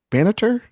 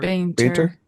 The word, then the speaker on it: Bainter: 1938, Faye Banter? Is that how you say it? Or Banter. Bainter. Bainter. Bainter for Yeah.